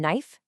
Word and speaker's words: knife: That K in knife, it actually used to be pronounced hundreds of years ago. We just stopped saying it because it was easier.